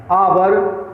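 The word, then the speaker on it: hour: अब देखिए, आवर, honest, historical, honourable, air, सभी में एच साइलेंट रहता है। ठीक है, एच साइलेंट रहेगा और इन शब्दों का उच्चारण आ से शुरू होता है जो स्वर ध्वनि अर्थात वावेल साउंड देते हैं।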